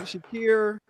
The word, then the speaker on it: Shakir: Shakir.